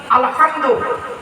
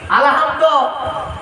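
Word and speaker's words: الحمد: না আলহামদুলিল্লাহি রাব্বিল আলামিন আলহামদু এই গলার ভেতর থেকে হেটা উচ্চারণ করবেন আলহামদু মানে হলো সমস্ত প্রশংসা আল্লাহ তোমার আর আমরা কি বলি আলহামদু এর মানে শুনবেন সমস্ত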